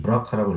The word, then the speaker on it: BRCA: 졸리는 혹여 자신도 그럴 수 있겠다는 걱정으로 유전자 검사를 받았고, 검사 결과 유방암을 일으키는 BRCA, 브라카라고 읽어야 되겠죠?